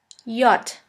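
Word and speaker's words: Jot: Yacht. Yacht. The letter yacht is pronounced like the Y in the word yogurt.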